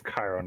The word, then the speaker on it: Chiron: Eris, Arthur, Heracles, Talos, Beowulf, Hades, or Chiron? I think that's how that's pronounced. It's Chiron, yes.